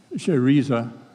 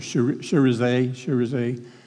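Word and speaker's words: Chérizier: is this Jimmy Barbecue Cheriza, I think is the way they pronounce it, Cherize, French.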